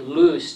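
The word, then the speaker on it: Lust: this man's great uncle dr benedict loose is the correct pronunciation he immigrated from germany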